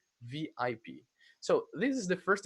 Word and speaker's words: VIP: So you say VIP, letter by letter. Remember, in Brazilian language, in Portuguese, Brazilian Portuguese, we say as a word, but in English, letter by letter, VIP.